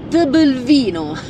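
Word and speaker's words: Tbilvino: È tipo Tbilisi, però c'è il vino dopo. eccola qui, Tebelvino.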